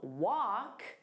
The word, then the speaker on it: wok: Now, the pronunciation of wok and walk are the same. So when I said them, it was the exact same word. Different spelling, same pronunciation, different meaning.